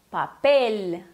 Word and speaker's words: papel: Se diz papel. Papel. Então, geralmente não é aquele E abertão que nem do português. É mais fechado. Papel. E não é papel. Não tem aquele som de U no lugar do L,